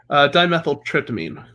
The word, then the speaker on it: dimethyltryptamine: Dimethyltryptophan. Or no, dimethyltryptamine. Yeah. Tryptamine, really? Okay, I've been saying it wrong.